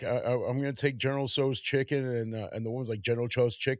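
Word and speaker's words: General Tso: It's like General So Yeah. Well, I mean, I always say it wrong. I I just No, that's actually that's actually correct. I just think about like my mom who says things wrong. She go General Chows.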